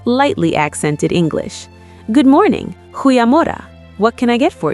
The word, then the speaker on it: Goeiemôre: "Goeiemorgen," she called out. Elias froze. He quickly flipped open his notebook to the pronunciation guide, the guttural G at the front and the U that sounded like oo. "Goeiemorgen," Elias attempted, feeling the